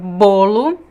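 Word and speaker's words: bolo: it's so you have the word bolu and the word balla close and open can you say that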